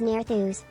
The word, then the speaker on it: Nerthus: Nerthus is pronounced as Nerthus. The TH Nerthus. sound is similar to the TH in Finn.